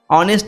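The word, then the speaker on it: honest: হচ্ছে, ও উচ্চারণ হচ্ছে, দেখো এইচের হ উচ্চারণ কিন্তু হচ্ছে না, তাই ভাবেলের আগে আমরা কী দিই, ভাবেল সাউন্ডের আগে অ্যান হয় এবং কনসোনেন্ট সাউন্ডের আগে এ হয়, ঠিক আছে।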